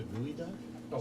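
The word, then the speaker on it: geoduck: do is um is uh you dig down gooey ducks have you ever heard of a gooey duck spelled g e o duu c k I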